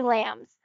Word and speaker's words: lambs: me they call me lambs because my initials used to spell lamps only without the b because the b is silent normally but i don't have